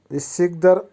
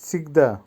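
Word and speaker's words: всегда: সিগদা, সিগদার অর্থ হবে সর্বদা বা সবসময়। উচ্চারণ হবে সিগদা, সিগদা।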